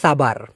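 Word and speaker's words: sabar: এবার এস দিয়ে হচ্ছে সাবার। আমি আপনাদেরকে বলে দিই, মালয়েশিয়াতে কিন্তু এই এসকে স উচ্চারণ না করে স উচ্চারণ করা হয়, স।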